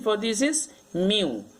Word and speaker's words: mu: Pronunciation for this is mu. The pronunciation will be M-I-U, mu.